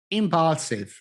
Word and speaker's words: impulsive: Impulsive, impulsive. La seconda vocale deve essere pronunciata U.